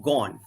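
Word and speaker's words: Ghosn: in brazil right and carlos gone ghost and gone that's how they pronounce it carlos gone was the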